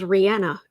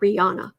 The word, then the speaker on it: Rihanna: like that for example rihanna is rihanna it's not rihanna and she herself says don't call me rihanna my name is not anna it's rihanna and um but the